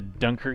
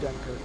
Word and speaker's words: Dunkirk: The Dunker Q. Dunkirk. Dunker And, Q. well, it's just Dunkirk. I know how it's actually pronounced.